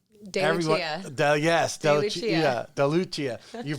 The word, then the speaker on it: DeLucia: expert i want to welcome kelly you don't pronounce it deluca yeah yes yeah delucia you pronounced it earlier and everyone wants to